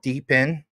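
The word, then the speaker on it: DePIN: I understand this is spelled deepen, but I'm just going to give you guys a clue.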